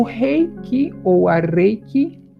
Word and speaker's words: Reiki: Então, Reiki na verdade a pronúncia é Reiki, é espírito, energia, mais espírito, né?